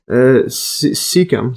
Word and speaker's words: cecum: And then the appendix, then also called vermix or vermiform process, is a finger-like blind-ended tube connected to the cecum. See the pronunciation here?